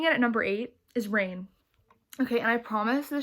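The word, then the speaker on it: Reign: at number eight is rain okay and i promise the show isn't on this list simply because um it's pronounced like my name um this rain is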